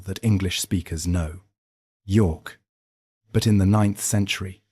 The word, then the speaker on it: Jorvik: The Vikings called it Jorvik.